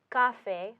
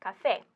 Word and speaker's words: café: So the normal pronunciation would be café, but it's not pronounced café, it's pronounced café.